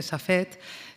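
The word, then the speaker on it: Safed: En castellano se dice Safet, que es un pueblecillo que está al norte del actual territorio del Estado de Israel.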